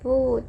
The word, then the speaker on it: 不: คะ เรา สือ ยัง เขียน คำ ว่า ปู้ เป็น เสียง 4 ตาม ราบ ศัพท์ ของ มัน นะ คะ แต่ เวลา เรา อ่าน เรา ต้อง อ่าน เป็น เสียง 2 นะ คะ คำ แรก อ่าน ว่า